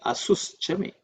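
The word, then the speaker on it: asuś ca me: But actually, pran vyanash chame asush chame me because of So, the a becomes avagraha silent because of sandhi.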